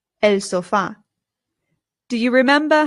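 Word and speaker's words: sofá: In English, we put the stress on the O and we say sofa. But in Spanish, the stress goes on the A.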